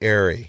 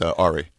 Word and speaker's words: Ari: If you say Ari. No, and you're mispronouncing it actually by accident. It's Ari.